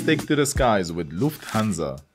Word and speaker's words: Lufthansa: to the skies with Lufthansa say it as Lufthansa because when the letter s is at the beginning of a syllable like in the words hanza then we pronounce it Z not s that's why we don't